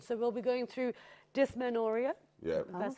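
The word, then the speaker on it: dysmenorrhea: the first one so we'll be going through dis manoria yeah that's how you pronounce it and the names are really tough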